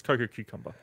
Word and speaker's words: Cococumber: It's Cococumber.